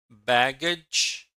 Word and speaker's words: baggage: Look at the word baggage. How are double G and GE pronounced? I think double G, G, and G, J.